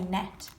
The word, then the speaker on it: gnat: In gnat, the g is silent. We don't say gnat, we say gnat.